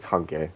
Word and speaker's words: Hange: supposed to be Hanji or Hange or something. It's Hange because that's what the that's how it would be pronounced in Japanese.